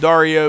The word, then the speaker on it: Dario: up Dario Dario Dario I'm gonna go with Dario because there's a guy on MTV the challenge you guys have watched that show the challenge there's a guy whose name is spelled like that and his name is Dario yeah guys I'm a